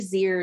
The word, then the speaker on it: zir: Z, zir, zirs is how you pronounce that set of pronouns.